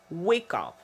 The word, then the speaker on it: wake up: Et le stress ici, c'est sur le wake. On doit entendre que c'est plus fort et plus prononcé. Wake up.